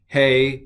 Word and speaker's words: Hey: All right, Aleph, Bet, Gimel, Dalet, Hey. What the hey? It's a hey. This is a hey. It's an H, and it's pronounced huh.